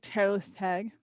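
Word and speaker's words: Tylwyth Teg: people see that one it's spelled t-y-l-w-y-t-h-t-e-g it's pronounced like terrorist tag let's not try to get slower my welsh by the way is scary but doing my best taylor's tag um well she's not my my forte um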